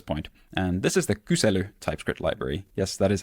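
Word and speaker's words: Kysely: and this is the kusu typescript library yes that is how you pronounce it it's a Finnish word uh kusu is an om/ query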